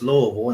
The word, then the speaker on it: Louisville: here so we can see well we it's Louisville and second of all it's a capital Kentuck